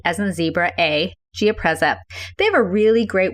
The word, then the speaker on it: Giapreza: you go to the Gia preza website and it's spelled g-i-a p as in Paul r e z as in zebra a geopreza they have a really great website very user